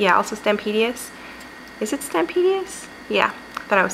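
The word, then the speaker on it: Stampendous: Is it Stampedious?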